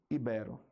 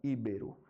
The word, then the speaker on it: ibero: certo que mais ó ibero aí muita gente fala íbero se repito assim como rúbrica se a pronúncia fosse íbero a a gente deveria colocar um acento aqui tá então é muito